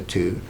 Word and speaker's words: two: one or the word two the number two why does it have the W in it that is not pronounced well originally the W